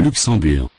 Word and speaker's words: Luxembourg: Final. G. Is not pronounced. Le Luxembourg.